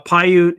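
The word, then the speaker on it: Paiute: Uh, Pyute is I'm going to spell it phonetically like I would in the military.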